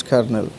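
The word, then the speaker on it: colonel: kernel that that that should be pronounced as kernel so a military officer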